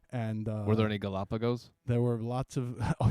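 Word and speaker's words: Galápagos: These Gallopags are huge. Imagine you say that to the locals and it's just like torture for their ears. No, you gringo. You're saying it wrong. It's Galapagos.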